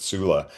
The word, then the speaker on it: Sula: You know, I love I also pronounced it culla, but I think everybody pronounced it sula.